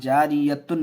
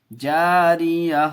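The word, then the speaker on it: جارية: فیہا عین جاریہ، جاریہ، جاریتن نہیں، جاریہ. وقف کریں گے تو ہجے کریں گے تو جاریتن پڑھیں گے.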